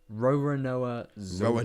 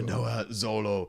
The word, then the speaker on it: Roronoa Zoro: Roronoa Zoro. Roronoa Zoro.